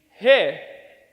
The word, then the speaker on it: oi: three let's say hey so it's hey but without the e sound so one two three hey perfect and now let's